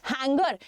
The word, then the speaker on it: hangar: दोनों के प्रोनाउंसिएशन में थोड़ा सा डिफरेंस है। हैंगर HANGER, HANGAR हैंगर और हैंगर, हैंगार और हैंगर, याद रखिएगा। आंसर तो ऑडिटोरियम है, ठीक